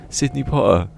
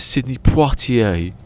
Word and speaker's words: Sidney Poitier: He goes, yeah, Sidney Potter. He goes, no, it's Sidney Poitier. He goes, Sidney Potter, like that.